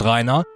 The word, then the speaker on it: Rhinar: You see, when I was a kid in the 90s, Rhinar, pronounced Rhinar, was a common name to hear around where I grew up.